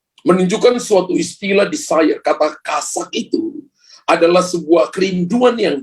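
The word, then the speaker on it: חשק: Tulisannya CHASAK di belakang. Ya. Kasak, bacanya kasak.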